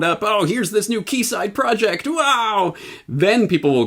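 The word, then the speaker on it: Quayside: news I think that's the word uh it's pronounced key side yes okay that shows I guess I'm I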